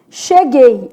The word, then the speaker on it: cheguei: Cheguei. Olha o que vai acontecer com cheguei. Som de X, isso aqui é um dígrafo, né? Che. O U não é pronunciado. Gay.